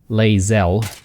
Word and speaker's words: Lae'zel: Sorry, keep mispronouncing it. Lae'zel.